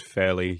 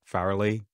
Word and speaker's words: Fairlie: A report commissioned by European Green groups in the EU Parliament, conducted by radiation scientist Ian Farrelly, I have since learned that it is pronounced fairly, not Farrelly.